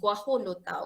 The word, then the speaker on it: guajolota: The J is pronounced as H, guajolota, okay.